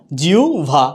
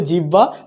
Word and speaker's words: জিহ্বা: ব্যঞ্জন আছে রসকার আছে তাইলে উচ্চারণটা হবে জিউ উচ্চারণটা হচ্ছে কি জিউবা না জিউভা আমরা যদি বলি জিহ্বা তাইলে হচ্ছে না উচ্চারণটা হচ্ছে যে ভিউবল উচ্চারণটা